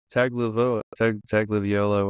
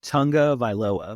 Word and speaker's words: Tagovailoa: Dolphins activated quarterback Tua Tagovailoa. I can't ever say his last name. Tagovailoa.